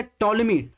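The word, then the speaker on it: Ptolemy: इसके अलावा आप देखेंगे टॉलमी। टॉलमी में आप देखेंगे यहाँ पर पी जो है साइलेंट रहता है, जैसे साइकोलॉजी में है वैसे इसमें देखेंगे टॉलमी इस तरह लिखा जाता है इंग्लिश में।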